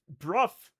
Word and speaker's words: Bruff: Bruff rhymes with bluff.